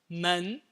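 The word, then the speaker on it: 们: So how do we pronounce door in Mandarin? M-E-N, the second tone. Men. And the character meaning plural of person is M-E-N, neutral tone. Men. The same syllable, just cast away the tone.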